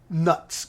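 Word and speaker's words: Knuts: down into like 17 nuts Canucks copper Canucks like we just throw a silent K in there because it's Wizarding and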